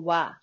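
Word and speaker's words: は: This has a ha. Why are we gonna call wa? Because sentence we do like this pronunciation wa, wa. Okay, wa. But when you see the word and some things, we said ha. Very confusing.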